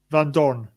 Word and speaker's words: Vandoorne: just say his name just say his name vandoorne no damn it you got it so right oh how dare you